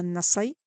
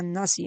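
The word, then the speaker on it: النسائي: Comienza a narrar ya otra de las colecciones de Persuna, y aquí está citando a Nasai, creo que se pronuncia Nasi en árabe, donde él narra de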